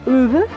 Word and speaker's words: Ove: Another one for getting away from it all, if you've read A Man Called Ove, which is the correct pronunciation, Frederick Backman's Anxious People, absolute hoot.